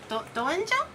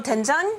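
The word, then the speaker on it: 된장: I I do have gchu jang and samjang is like basically like miso paste or like the denjang. How do you say it? Oh, tenjang.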